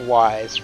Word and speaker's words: YZ: Ah, so you're pronouncing it wise rather than just reading each letter.